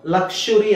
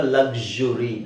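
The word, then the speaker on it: luxury: ಮಾತ್ರ ಇದನ್ನ ಯೂಸ್ ಮಾಡ್ತಾರೆ ಅದನ್ನ ಲಕ್ಷುರಿ ಅಂತನು ಹೇಳಬಹುದು ಅಥವಾ ಲಕ್ಸುರಿ ಅಂತನು ಹೇಳಬಹುದು ಓಕೆ ಸೋ ಎರಡು ತರ ಉಚ್ಚಾರಣೆ ಇದೆ ನೀವು ಲಕ್ಷುರಿ ಅಂತನಾದರೂ ಹೇಳಬಹುದು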